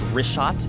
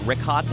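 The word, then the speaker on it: Richat: In the first couple, I just want to say it's Rishat. I used to call it Rikhat. I was mispronouncing it.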